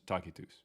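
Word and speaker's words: Tacitus: That's that's Tetagus that uh he was uh also 30 years. Yeah, that's how you pronounce Takitus.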